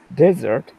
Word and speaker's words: desert: Nevada has a like climate how would we pronounce this word correctly desert good yep the state of Nevada has a